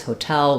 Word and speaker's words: hotel: hotel um but U the rhythm of that word is hotel with second syllable stress so I would focus